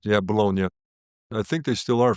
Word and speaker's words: Bologna: Uh, please correct me on the pronunciation. Is it for Bologna? Correct. Yeah, Bologna.